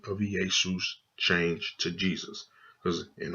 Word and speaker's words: Iesous: book of the generations, this does not pronounce Jesus. This is still pronounced Iesous Christ, the son of David, the son of Abraham.